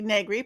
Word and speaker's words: Negri: able to say begley rhymes with ed begley who's an actor and